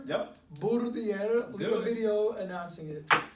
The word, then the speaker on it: Burdier: Leave a video pronouncing his last name. Burdier. Yep. Burdier.